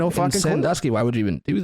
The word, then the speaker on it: Sandusky: this well then like people say that we say it wrong because it's like it's not s-u-m Dusky because it's Sandusky like we say it like sun I don't know man